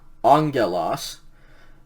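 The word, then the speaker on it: ἀγγέλους: next sentence here lege angelos remember those two gammas uh you pronounce that unga like an ng sound so legends first thing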